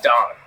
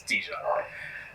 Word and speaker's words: Dijon: The the J is silent. It's Don. I don't think so. No, it's Dijon.